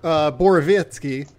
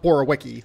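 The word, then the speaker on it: Borowiecki: And they picked Mark Borovitsky. I think that's how you pronounce his name. Yeah. It's not Borowicki like it's pronounced or like it's spelled.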